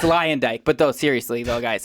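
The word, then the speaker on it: Luyendyk: for this season of The Bachelor with Arie Leonda. Is that how you say his last name? You tell me how to say his last name. I have no clue. Nick knows it. It's Arie Leondyke.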